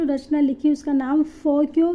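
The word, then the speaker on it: Foguoji: फोगो ऐसे पढ़ने में हमें फोगोजी जैसा लग रहा है ये, लेकिन इसको जो प्रोनाउंस किया जाता है फोक्यो की तरह प्रोनाउंस किया जाता है।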